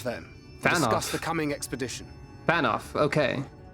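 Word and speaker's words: Fanow: Fanoff, okay. The W is pronounced like an F in this case.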